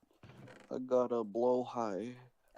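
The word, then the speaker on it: Blåhaj: I got a blow high.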